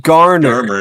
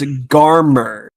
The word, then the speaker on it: Garmer: It's not Garner. It's Garmer.